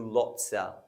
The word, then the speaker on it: lots of: That is reduced to lotsa.